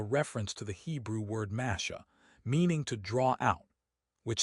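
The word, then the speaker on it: משה: Some scholars believe this phrase is a reference to the Hebrew word masha, meaning to draw out, which sounds similar to the Hebrew pronunciation of Moses, mash.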